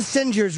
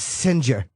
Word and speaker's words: Singer: It's spelled Singer, but it's Singer.